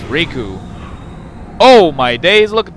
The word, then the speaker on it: Riku: time Riku Riku Riku since it's not raikou it's Riku oh my days look